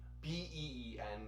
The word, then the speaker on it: been: specifically the perfect tenses, is been. B-E-E-N, or, well, that's how it's spelled, but it often sounds like been, right? Especially from North Americans.